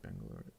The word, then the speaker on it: Bangalore: Of course I've heard of Bangalore.